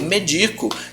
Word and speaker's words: medico: o verbo medico, eu medico, que é uma paroxítona, tá? Porque a sílaba tônica de médico é me e a sílaba tônica de medico, então você pensa eu medico, é o di, tá?